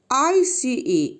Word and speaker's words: ice: First one is silent E. At the end, it can change the pronunciation. Example, ICE, it is ice. E is not pronounced. It sounds softly.